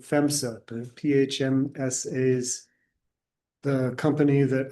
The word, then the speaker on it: PHMSA: This is potential meeting dates for I think that she pronounced it FEMSA, the PHMSA's, the company